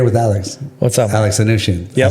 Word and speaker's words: Anoushian: Alex Anoushian.